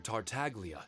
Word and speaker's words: Tartaglia: It's nice that they actually pronounce the G, Tartaglia, instead of Tartaglia.